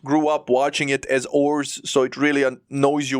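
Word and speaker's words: Oars: Oz and his name technically it is ores you know like as in like the things that you row with funny thing is in Japan they call him Oz like spelled like oh HZ like here's the cover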